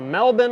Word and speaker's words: Melbourne: Ash is watching from Melbourne Australia you see I said it right I said Melbourne not Melbourne like Americans I spent a